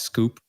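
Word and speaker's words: skwp: on twitter my handle is sk WP it's pronounced scoop and you can also find the book inventing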